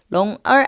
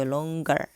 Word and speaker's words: longer: longer 아니고 longer 이렇게 발음이 됩니다.